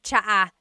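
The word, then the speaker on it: tsaa: And it's spelled T S A. Cha. Cha. That's such a Tagalog spelling. I love it. There's the ts sound and then the double vowel uh pronunciation.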